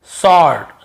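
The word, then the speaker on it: sword: बाद यदि डब्लू है एस के बाद डब्लू है तो सेंट होता है जैसे आंसर हमें आंसर नहीं पढ़ते वर नहीं पढ़ते आंसर बस आंसर जवाब फिर देखिए सर्ड सर्ड यानी होता है सर्ड है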